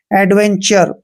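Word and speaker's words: adventure: हमने चर करना है एडवेंचर तो आपने यहां पर ध्यान रखना है कि टी के बाद यू आर ई आया है इसलिए हमने टी को च पढ़ा है नेक्स्ट वर्ड देखिए एल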